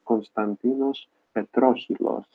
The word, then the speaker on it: Konstantinos Petrocheilos: Yeah, so my name is pronounced Konstantinos Petrocheilos, or as I have heard foreign speakers pronounce it, Pet, Petrocheilos. It's basically the last name.